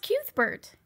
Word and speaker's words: Cuthbert: Yes, it's pronounced Cuthbert.